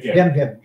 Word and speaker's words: Jem: His name's Jim. They call him Jim. Jem. That's how it's pronounced.